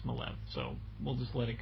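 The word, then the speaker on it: Maleev: that and it by the way it is pronounced malev cuz I met the man and I asked him and he told me it looks like Mal but it's malev so we'll just let it go at that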